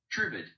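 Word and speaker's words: tribade: They called them tribads. Is that how you pronounce it? I don't know. Let's have a look. Tribid. Tribid. Fine.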